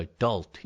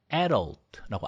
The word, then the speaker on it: adult: 우리가 성인이라고 하는 거가 adult, adult라고 뒤에 두 번째 음절 adult 여기에 강세가 있는데요. 어쩔 때는 adult라고 앞에 여기에 강세를 주는 경우도 보입니다.